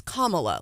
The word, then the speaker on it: Kamala: It's Kamala, like the punctuation, Kamala.